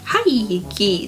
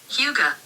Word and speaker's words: Hygge: Hi. No, that's wrong. That's very wrong. Shucks. Huga.